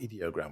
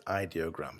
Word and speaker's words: Ideogram: actually um it's I I pronounce it idog but they say it's ideogram so it's id.